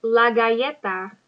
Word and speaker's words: galleta: Repite, la galleta. Galleta. Double L's make a Y sound.